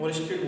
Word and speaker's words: Oersted: ऑरेस्टेड ने, ठीक है, ऑरेस्टेड बोलते हैं उसको। ठीक है, स्पेलिंग होती है OERSTED, ऑरेस्टेड।